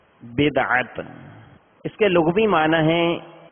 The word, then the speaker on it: بدعت: اس کا درست تلفظ بدعت، اس کے لغوی معنی ہے نئی چیز، نیا، انوکھا ایجاد کرنا.